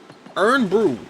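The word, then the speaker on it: Irn-Bru: Earn Brew!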